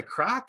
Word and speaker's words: craic: Across now, you say it's across the crack? Is that you say, or is that you say crake, or across the shuck?